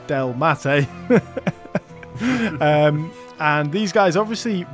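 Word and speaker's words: Dalmatae: while so uh yes we're on to the D mate not the DM the Del mate um and these guys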